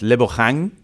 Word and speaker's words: Lebogang: I said, first of all, how do you say your name? It's Lebogang. That's how you say it, because there's another Lebogang